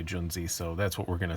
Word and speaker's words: Junzi: best tech Gen Z I think it might be pronounced young Z I don't know Ju and Zi I don't know what it is probably it's pronounced young Z but people are gonna say John Z so that's what we're